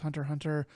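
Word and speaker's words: Hunter × Hunter: doesn't actually mean anything it's like a silent x almost like like hunter hunter i think is supposed to be pronounced just hunter hunter so that is correct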